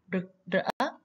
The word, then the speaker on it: rực rỡ: Trong câu này chúng ta cùng luyện đọc từ rực rỡ. Các bạn lắng nghe cô đọc rực rỡ. Khi đọc, các bạn cần cong lưỡi để phát âm cho đúng âm R nhé.